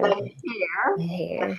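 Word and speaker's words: بخير: Bekhair.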